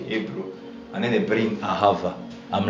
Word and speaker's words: ahav: h a v pronounced aav with with with with with with V at the end aha because I I